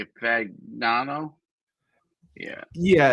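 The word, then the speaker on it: Fagnano: Fagano.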